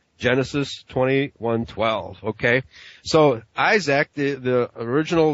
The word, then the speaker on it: Isaac: Okay, so Isaac, the original, the Hebrew pronunciation of Isaac is Ishak.